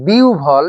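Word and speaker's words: বিহ্বল: সুতরাং আ ও ভান এখানে ও এবং ভ আর বিউভল এখানে রসই থাকার কারণে রসউ এবং ভ।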